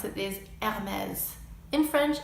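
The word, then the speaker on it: Hermès: to pronounce it these ad mez infringe if there's an H at the beginning of the word you don't pronounce it another iconic and trendy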